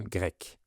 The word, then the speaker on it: Grecque: Et les habitants s'appellent un grec ou une grecque. Donc c'est la même prononciation pour le masculin et pour le féminin.